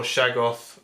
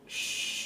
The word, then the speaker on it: Shoggoth: any more cultists or shaggo, I'm hoping I pronounced that correctly. Cthulhu fans are going to start. Shoggoth. Left. Oh, shog. Yeah, it's not an A.